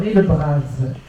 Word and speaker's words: Le Bras: d'onheur qui est har Le Braz je prononce à la Bretonne je viens d'apprendre ça